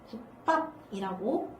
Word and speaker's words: 국밥: 예시 하나씩 보시면 국밥. 그래서 이 밑에 오는 받침이 기역이잖아. 근데 뒤에 비읍이었잖아. 그러니까 이 첫 번째 경우 때문에 국밥이라고 된소리로 바뀌어서 소리가 나는 거예요.